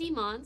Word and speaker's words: Imane: My name is Iman, so it's the second half of the name, I-M-A-N-E. So it's meant to be like Pokemon, kind of like the game Pokemon. But I totally understand it reads as Pokimane.